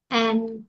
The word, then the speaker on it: and: Cái chữ này đọc strong form của nó đọc là an, nhưng mà weak form của nó đọc là father and son, father and son. Nghe không được chữ an đâu, nhưng nó cũng tại